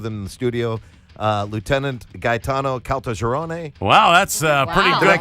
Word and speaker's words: Gaetano Caltagirone: Lieutenant Gaetano Caltagirone. Wow, that's pretty good pronunciation.